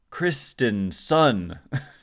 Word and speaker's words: Christensen: and then 11 coaches Ryan Christen Sun as they their pronunciation guide was really weird Christensen is how I would say it normally Matt Williams third base